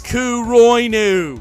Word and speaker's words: Kuroinu: more political masterpiece than Kuroinu, and most aren't. And if you correct me and say it's actually pronounced Kuro Inu, shut the hell up, it's a hentai.